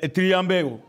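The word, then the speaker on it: θριαμβεύω: Du mot grec triambéo. Triambéo. Ou en grec, triambéo, puisqu'il s'écrit T-R-I-A-M-B-E-U-O, accent circonflexe.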